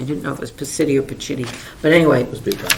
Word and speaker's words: Pacitti: the permitting office, which I is, think it's Pacitti, The but city, The city, P-A-C-I-T-T-I. yeah, I didn't know if it was Pacitti or Pacitti, but anyway, Must be Italian.